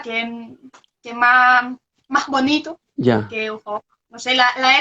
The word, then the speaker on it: Aurore: La cosa es que mi nombre en francés no sé, no es Aurora, sino Aurore. Pero Hugo. yo prefiero Aurora que más bonito Ya. que Aurore.